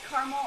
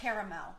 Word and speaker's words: caramel: so we are making a do you say caramel or caramel caramel do you say caramel or caramel is